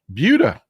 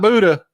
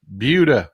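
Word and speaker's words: Buda: south of uh south of Austin uh called budha B Buu D not Buddha budha we I you know San Antonio is in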